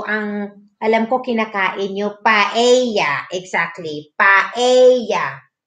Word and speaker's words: paella: Ano, eye, ang double L rather, double L, they pronounce it as ye, tortilla, paella, what else?